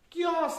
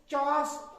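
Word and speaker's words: chaos: और क्योस है। क्योस। चॉस, चॉस नहीं पढ़ते इसको, क्योस।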